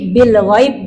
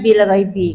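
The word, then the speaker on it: بالغيب: kata tidak satu kata dimatikan b-nya ini menjadi mati jadi kalau mati dia eh bacanya Beh saja kan Beh jadi Bil Ghaib jadinya bukan Bil ghaibi karena kita di sini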